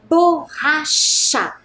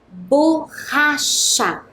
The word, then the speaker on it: borracha: E a última palavra, borracha. Borracha. Percebam que ela é escrita com 2 R's para que a pronúncia, né, do ra seja bem forte.